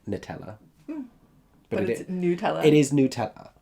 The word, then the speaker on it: Nutella: Nutella what how do you say it Nutella I promise you everyone in the UK unless they're being really self-important about its accuracy or unless they are physically Belgian says Nutella it's like Nutella but Nutella it is